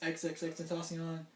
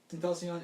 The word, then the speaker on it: XXXTentacion: Yeah, him, the recent past XXXTentacion. That's how you pronounce it. Okay. Yep, Tentacion.